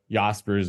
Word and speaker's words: Jaspers: those go into what yaspers which is spelled j s p RS spelled Jaspers but it's pronounced yaspers it's the sort of